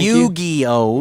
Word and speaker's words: Yu-Gi-Oh: The Yu-Gi-Oh.